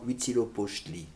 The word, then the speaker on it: Huitzilopochtli: Pour la dédicace d'un temple à leur dieu, qui a un petit nom charmant, Huitzilopochtli, comme ça se prononce. Ça s'écrit comme ça se prononce.